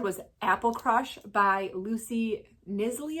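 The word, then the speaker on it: Knisley: Apple Crush by Lucy nisly I think is how you say it because it's a k n i s l e y nly and this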